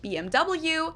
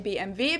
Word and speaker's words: BMW: English and in German in English people say BMW in German we say BMV because W is pronounced via in German and it stands for